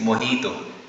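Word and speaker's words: mojito: okay the next one that is नॉट मजटो और मोजीतो ट इज मोहितो मोहितो drink आपने होग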